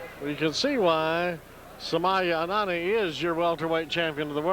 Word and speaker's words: Sumya Anani: Well, you pronounce it Sumya Anani.